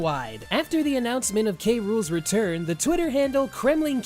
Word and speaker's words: K. Rool: Rool's name is spoken verbally, being pronounced as K. Rool in English and in Japanese as King Cruel.